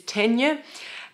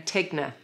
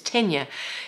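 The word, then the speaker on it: Ticino: pronunciation I was saying tigner and it's tenure it's tenure because it's named after a place in Switzerland which is on the border of Italy and so it takes the Italian pronunciation so GaN is new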